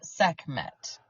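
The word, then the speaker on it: Sekhmet: so Dan I'd like to introduce you to seet so seet seet s e k h m t pronounced seet and she was the goddess of war in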